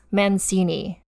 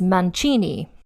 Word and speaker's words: Mancini: see it written out it looks like Hortense manini but in fact it is pronounced or because that is a French name and because she's an Italian person her last name is men Chini not manini and if you're like why did she have